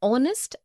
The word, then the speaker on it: honest: also an heir, an honest, an hour. Because the words heir, honest and hour begin with a vowel sound, as the initial consonant H is not pronounced.